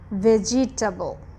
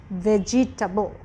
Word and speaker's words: vegetable: that we have here is vegetable when you read it it's vegetable but when you speak it's vegetable vegetable vegetable right the same comes for the next word which when